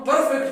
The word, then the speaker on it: perfect: अब इस लफ्ज को हम परफेक्ट नहीं पढ़ेंगे, इसमें आर नहीं प्रोनाउंस होता, क्योंकि जब मैंने आपको पहले भी